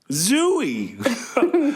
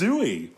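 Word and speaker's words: Zooey: word yeah I'm sorry the correct pronunciation zooie I'll do it for you right now mate it's zooy while you're looking that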